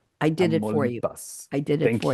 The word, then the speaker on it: Tamaulipas: We have Guanajuato, we have Michoacan, we have Nayarit, and we have Tamaulipas. I did it for you. Tamaulipas.